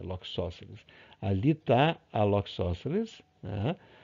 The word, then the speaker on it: Loxosceles: O abdômen da Loxos, a forma certa de pronunciar aprendi com um amigo meu que é biólogo, muito gente boa, né? Muito gente boa. Eles assim, é Loxosceles, tá? Não é Loxosceles, é Loxosceles.